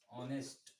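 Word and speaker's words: honest: क्या होगा इसका होगा ऑनेस्ट इसमें भी साइलेंट है क्या होता है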